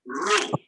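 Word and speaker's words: ρ: The 17th letter of the Greek alphabet is called rho. In the capital, it is written as the English letter P. It is pronounced as re, as you have in read.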